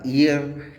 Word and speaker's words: heir: इसके अलावा H silent हुआ करता है HOUR और, HEIR ईयर, HONEST honest, HONOR honour, RHYME rhyme.